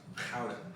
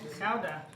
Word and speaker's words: Gouda: To our Dutch friends, cheese, the Gouda, it's actually pronounced Gouda. Gouda? Really? Yeah, it's weird. Huh. Strange. Okay. Gouda. Like chowder. Which is like an ill Bostonian trying to say it.